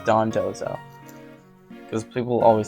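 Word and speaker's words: Dondozo: next is dawn Don dozo right I think that's yeah it's Don dozo because people always say the danzo I think it's Don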